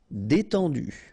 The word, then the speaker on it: détendu: Détendu, E accent aigu, et, and then EN, en, détendu.